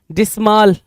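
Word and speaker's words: dismal: डिस्माल, है ना, या डिस्मल, कुछ लोग डिस्मल पढ़ेंगे, कुछ लोग डिस्माल पढ़ेंगे, कोई इशू नहीं है जी, प्रोनाउंसिएशन में।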